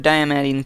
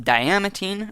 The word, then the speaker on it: diamantine: So I was thinking about this, and I think that it's probably pronounced diamantine rather than diamantine, like I was pronouncing it before.